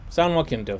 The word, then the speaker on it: San Jacinto: Okay, San Jacinto. Thank you, pronunciation cat.